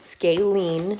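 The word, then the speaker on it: scalene: same shape so a scaling triangle that's how you say it scalen please don't spell it that way but that's the way it is said this has zero equal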